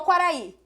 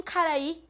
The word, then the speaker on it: Quaraí: Pegar o Quaraí. 2, 3, 4, 5, 6 letras, concordam? Agora eu vou contar quantos sons são pronunciados. Cu, A, R, A, I. 6 fonemas. Concordam? Vocês não falam ainda assim, Caraí.